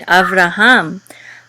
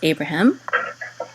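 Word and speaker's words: אברהם: it I am good Avraham after hum and of course that's commonly in English said as Abraham now read great or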